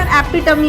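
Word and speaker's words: epitome: इसका सही pronunciation एपिटमी होता है।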